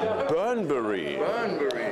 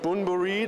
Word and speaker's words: Bunbury: Es gibt ganz verschiedene Aussprachen. Der eine sagt Bunbury, der liest es einfach nur. Der andere sagt Burnbury. Und wir haben uns jetzt geeinigt auf Burnbury. Burnbury, also very British.